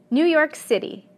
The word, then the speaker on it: New York City: or even four words, the stress will always fall on the last segment. Listen to a few. New York City, Martin Luther King, the Golden Gate Bridge. The stress is always at the end.